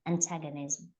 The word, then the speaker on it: antagonism: Antagonism. That's I think you just had when you read it out you just had you had a different ending. You just changed the ending there to something else. Antagonism.